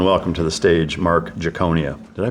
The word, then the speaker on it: Giaconia: Ladies and gentlemen, welcome to the stage, Mark Giaconia. Did I pronounce that right?